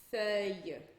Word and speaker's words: feuille: Outro exemplo, com esse mesmo som, feuille, que é folha.